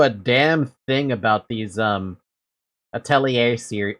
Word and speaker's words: Atelier: But I don't know a damn thing about these Atelier series. How did they pronounce it again?